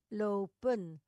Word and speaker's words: lopen: Ini teorinya kenapa tadi menjadi lop? Saya lihatkan dulu di sini ya. Lope. Sedangkan kalau teorinya ee kita pakai adalah hilangkan huruf N.